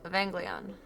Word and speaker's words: Evangelion: Oh, Evangelion. Hard G.